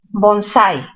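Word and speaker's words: bonsái: Bonsai. ¿Se tilda por ser aguda? A ver, bonsai. ¿Dónde tiene mayor fuerza de voz? En la sílaba sai.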